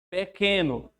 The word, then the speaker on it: pequeno: Esse QU aí tem o mesmo som? Pequeno. Ó, esse aqui tá com som de K.